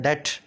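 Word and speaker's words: debt: देखो डेब्ट में बी जो है ना, इसको बोला नहीं जाता, लिखा क्या गया है डेब्ट, डेब्ट, लेकिन बोला क्या जा रहा है डेट, है ना। बी को साइलेंट रखते हैं।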